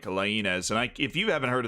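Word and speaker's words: Laínez: We're sticking with the Spanish because we're going with the Mexican Wonderkid this time, Diego Lainez. That's the American pronunciation. It's actually like Lainez.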